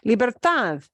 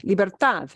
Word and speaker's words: libertad: we punched the end libertad Freedom we punch the end libertad it's a d at